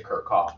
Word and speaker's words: Kirchhoff: me to my failure phone then they got pronounced a Kurt chop but Kurt I'm going to still say kerkhof I've been saying it for 20 years so